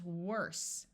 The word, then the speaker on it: worse: long e sound worry this e is silent and it does not change the sound of the O because the O is